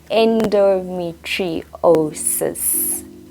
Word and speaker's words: endometriosis: down below so that you are able to pronounce it so here it is endometriosis simple right I'm kidding I know it was